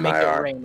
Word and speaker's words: MakeItReign: Is this guy's name pronounced like or? Make it rain. It's yeah. It stands for me.